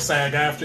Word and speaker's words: SAG-AFTRA: So it's like SAG-AFTRA.